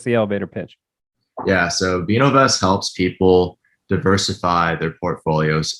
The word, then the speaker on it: Vinovest: So on to the wine, on to Vinovest. Mm-hmm.